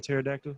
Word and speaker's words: pterodactyl: what what about a pterodactyl what going to the bathroom why can't why can't you hear a pterodactyl go to the bathroom because the p is silent yes that is